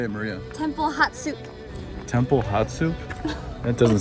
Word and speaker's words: Hatshepsut: So the proper way to pronounce it is the Temple of Hatshepsut.